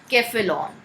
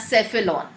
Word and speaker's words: cephalon: Brain को बोलते हैं केफेलॉन या सेफेलॉन। The more correct pronunciation is केफेलॉन। However आपके लेवल पे उसको सेफेलॉन भी अगर आप प्रोनाउंस करते हो तो इट इज़ ओके।